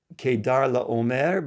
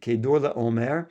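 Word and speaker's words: Chedorlaomer: And just to mention, this name is Kedar La Omare, but we pronounce it Kador la Omare.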